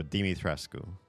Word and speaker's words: Dimitrescu: is basically like your standard Romanian last name. It's kind of like ski in Polish or Nov in Russian. So Dimitrescu. But I think in both Japanese and US localizations for the game, they pronounce the first syllable as do.